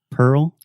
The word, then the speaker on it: Pearl: right now on air repeat with me three times Pearl Pearl Pearl Pearl Pearl Pearl girl girl squirrel squirrel nice Pearl Harbor Pearl